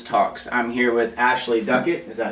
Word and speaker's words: Duckett: of bonafide business talks I'm here with Ashley Duquette is that how you pronounce that correctly yeah okay with we ensure